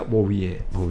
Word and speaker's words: Bouvier: Se escribe y se pronuncia Bovier.